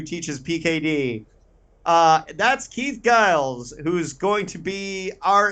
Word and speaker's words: Giles: told you this before we hit recorded it's pronounced Giles Giles so that's fine no big deal um yeah